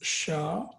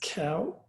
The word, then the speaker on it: char: It's char, it's C-H-A-R. You can also pronounce as cow.